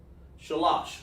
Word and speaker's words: shalash: So because of paleo connectors, it helps me pronounce the number, shalash. So you say sha, lash.